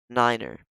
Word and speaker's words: niner: that's not really necessary the nine is pronounced niner so one tree zero